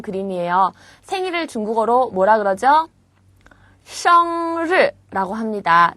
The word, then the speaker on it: 生日: 生日라고 합니다. 자, 를 발음 조심하시고요.